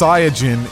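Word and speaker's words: サイヤ人: that goku is from dragon ball z is pronounced sayagin in japanese so his name is like kind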